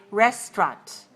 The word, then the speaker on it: restaurant: can also say restaurant with a second syllable very weak a schwa so we can say rest or we can say restaurant all right but don't say Restaurante and that's very good